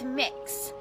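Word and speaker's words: Mx.: It's Mix. So kind of like cookie mix or mixing bowl.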